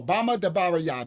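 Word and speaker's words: Bamidbar: No, Bama dear. That's how you say it. Bama dear. Let me write it. B A M A like a Bama. Like Alabama. Like the Bamas. Child of Alabama.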